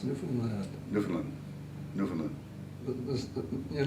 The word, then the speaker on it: Newfoundland: How do you pronounce Newfoundland?